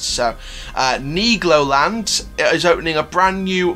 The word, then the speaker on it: Nigloland: the last video and said that's how it's pronounced so knee Glo land is opening a brand new Mac coaster in